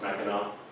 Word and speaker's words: Mackinac: This word here is pronounced Mackinac.